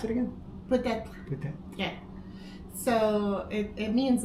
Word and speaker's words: peut-être: How do you pronounce it again? Peut-être.